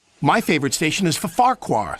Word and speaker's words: Farquhar: saying it right though I think that double F is silent just Farquhar not for Farquhar anyway Percy wasn't happy